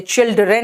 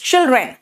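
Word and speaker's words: children: चिल्ड्रेन, बेटा चिल्ड्रेन, चिल्ड्रेन, चाइल्ड में डी आता है, लेकिन जब चिल्ड्रेन बोलते हो तो उसमें डी को बहुत स्ट्रेस नहीं करते, चिल्ड्रेन नहीं बोलते, इट्स चिल्ड्रेन। बहुत सारे ऐसे लेटर्स होते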